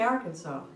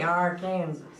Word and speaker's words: Arkansas: are pronounced nothing alike the word Kansas is in the word Arkansas but we say Arkansas we don't say our Kansas and we say Kansas we don't say can saww can saww City can saww